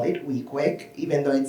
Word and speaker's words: Weequahic: Park Association um as we locals call it wiqui even though it sounds as it should be pronounced wqu right or wiek which means head